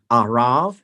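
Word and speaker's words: ערב: transliteration of the language it is a r a b but pronounced as a V at the end arav and this is Arabia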